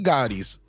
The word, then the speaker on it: Gotti: he does he's John Gotti's son and he's a grandson and he's an MMA fighter yeah that's my point and it's spelled g-o-t-t-i not g-a-t-t-i it's different Gotti's like why do y'all